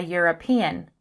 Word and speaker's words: European: European begins with an E, which is a vowel, but it begins with a consonant sound like y, the European.